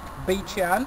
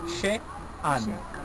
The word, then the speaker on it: Beit She'an: You can write it as B-E-I-T. Okay, Beit, because in Hebrew, Beit, something is the house of. She'an, S-H. E, comma, A, N. She'an. She'an. That's how the closest you can spell it to get the sound.